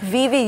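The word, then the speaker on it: Vevay: towns in America is Viv Indiana Vib you pronounced it right that's how the locals say it um so Vib Indiana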